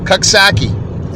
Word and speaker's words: Coxsackie: X as in X-ray, and then S as in see me later, and then Aki, A-C-K-I-E, Coxsackie.